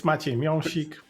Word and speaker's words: Miąsik: that well said yeah it's close enough it's maik but still I understand that this is difficult to pronounce okay I take the close enough I